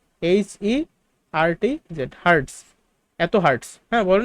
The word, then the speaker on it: hertz: Per second মানে S inverse one, তো এটার উচ্চারণ করি পার সেকেন্ড, অথবা আরেকটা নাম আছে হার্টজ, ঠিক আছে, হার্টজ, HERTZ, হার্টজ, এত হার্টস, হ্যাঁ বলে না যে ফ্রিকোয়েন্সি।